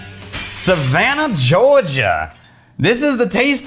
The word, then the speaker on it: Savannah: how they look they they spelled it out the way that you're supposed to pronounce it savannah yeah three syllables you're sounding like your